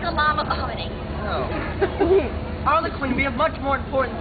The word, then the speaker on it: Arlequin: You pronounced it Arlequin, when it is obviously and indubitably Arlequin. Yes.